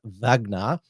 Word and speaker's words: Wagner: The other more extreme psyop conspiracy is that the leader of the Russian paramilitary organization, the Wagner private military company, or it's pronounced in Russian Wagner.